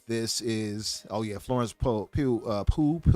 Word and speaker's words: Pugh: Oh yeah, Florence Pugh. How do you say her name? Pugh.